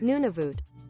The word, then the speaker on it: Nunavut: Nunavut. It's Nunavut. That's how it's pronounced, you fiend.